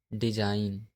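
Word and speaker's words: design: जब एन से पहले जी आता है तब हमेशा जी साइलेंट होता है। जैसे डिजाइन, रिजाइन, कंपेन, नोम, शाइन।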